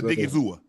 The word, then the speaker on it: Odighizuwa: Did I pronounce that right? Osa. Osa Yes, sir. Odighizuwa.